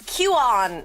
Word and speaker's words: Qon: It's Qon. So often if people have trouble I just say pronounce it like the letter. You could just call me. Um is easiest.